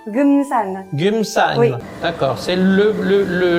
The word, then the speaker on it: Geumsan: village gumsan en Corée du Sud comment tu prononces gumsan gumsan d'accord c'est le le le l'endroit où on